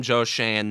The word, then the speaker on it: Joe Schoen: It's Joe Shane.